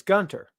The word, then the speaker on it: Gunther: Sandy says, as a German, the H in Gunther is silent, so it's Gunter.